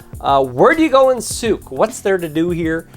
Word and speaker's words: Sooke: So the way to say Sooke is it rhymes with Duke, right? So Duke, Sooke, or Toque if you live in Canada.